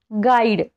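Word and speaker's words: guide: राहतो याचे एक्झाम्पल्स बघा गाईड स्पेलिंग मध्ये बघा यु च्या नंतर आय आलेला आहे म्हणून इथे यु हे सायलेंट आहे गाईड म्हणजे काय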